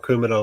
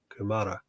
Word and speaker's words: Kumara: do you say it so it's not kumara like the vegetable then kumara didn't know that we